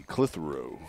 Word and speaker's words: Clitheroe: You want to say that as one syllable, it's not very easy. Clitheroe. It's really two syllables, I guess.